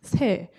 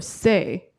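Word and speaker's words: 새: Your name in English is Bird, and the Korean word for it is pronounced se or se.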